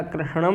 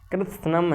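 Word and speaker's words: कृत्स्नम्: धर्मे नष्ट कुलम कनम यह कृष्णम नहीं कृम है ठीक संपूर्ण कृष्ण मतलब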